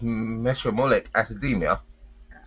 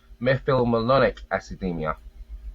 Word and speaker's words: methylmalonic acidemia: Well, the pronunciation we used to say it's meolic academia, but it's actually pronounced methylonic academia.